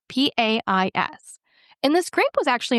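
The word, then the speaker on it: País: tannin going on is a Chilean grape called pice. P A I S.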